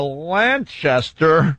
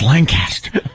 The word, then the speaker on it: Lancaster: Boulevard yeah on my way to uh uh Lanchester no you said it wrong it's Lancaster oh my God you said it wrong it's